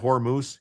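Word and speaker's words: Hormuz: Hormuse. Yes, Hormus. That's what it's how it's pronounced.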